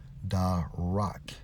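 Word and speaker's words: דָּרַךְ: strong's h 1869 pronounced as da rock which means to tread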